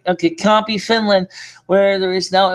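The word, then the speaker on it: Kuopio: born and I said it wrong I said couple was copy copy right okay copy finland where there is now a famous shopping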